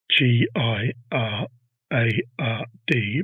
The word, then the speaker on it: Girard: G I R A R D but pronounced Girard.